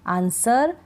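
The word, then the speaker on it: answer: शुरुआत कर रहे हैं अगला क्या है कि डब्लू का उच्चारण नहीं होता जैसे कि यहां है ना ये स्पेलिंग है इनमें डब्लू का उच्चारण नहीं होता आंसर सर्ड टू यहां पर डब्लू का उच्चारण नहीं हो रहा है आप इन स्पेलिंग्स को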